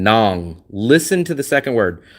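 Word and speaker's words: Nẵng: I know it's spelled N A N G, but when you hear it, it doesn't sound like nang. It sounds like nong.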